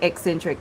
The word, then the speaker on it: Eccentric: of the fact that that's the name, Eccentric. That's how you pronounce it.